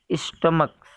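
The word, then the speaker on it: stomach: तो इन दोनों वर्ड्स के लास्ट में CH आया है, बट इनका उच्चारण क हो रहा है, इस वजह से इनके साथ S जोड़ के इनको प्लूरल बनाया गया।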